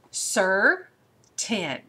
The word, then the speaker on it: certain: team before all right sir 10 now there's that R controlled so we've got the little Housetop on there on the sir part but the 10 sir